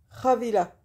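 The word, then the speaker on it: Havila: le premier fleuve coule vers ravila le H se prononce comme un r roulé et qui veut dire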